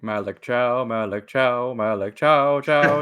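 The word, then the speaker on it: Thiaw: Malik Cow. Um, Thea. That's how it's spelled. Oh, but uh yeah. Um, but yeah, his his it's apparently it's Malik Chow, like um C H O W.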